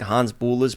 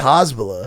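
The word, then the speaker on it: Hasbulla: I don't think that's how you say it. He's getting fucking Hans, you're saying it like he's a Star Wars character. Hans Bula. I didn't look up the proper I pronunciation. think it's just Hasbula.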